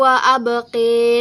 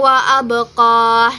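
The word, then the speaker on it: وأبقى: cara membacanya wal akhiratuir wa abqi khairu wa abqi. Nah, itu ada imalah di dalamnya yang sebelumnya lafaznya itu membacanya khairun wa abqoh. Nah, dia berubah menjadi khairu wa abqi seperti itu.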